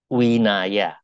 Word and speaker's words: Vinaya: perkuliahan minggu yang lalu setiap v v itu dibaca O ya jadi tulisannya vinaya bacanya Winaya tulisannya seperti Vihara yang benar